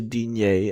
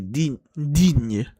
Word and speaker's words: Digne: So I'll continue to say Digne as if there's an acute accent or something. Even though it should be Digne.